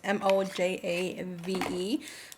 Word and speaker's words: Mojave: I'm pretty sure you pronounce it Mojave. It's Mojave, which is supposed to be like a rich dark brown lip liner.